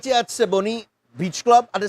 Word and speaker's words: Siboney: You have to say it kind of fast now. Siboney. Right? You can't lag.